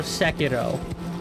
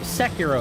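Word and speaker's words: Sekiro: reinvigorated my love for Seco or Seco excuse me I have to remember not to um relax my mouth and roll that R that's not how you say it in English yeah please tell me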